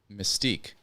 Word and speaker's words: Mystique: No, like mystic, but antique. You know that's how it's pronounced? Maybe it's mystic. I don't know, but I pronounced it like antique.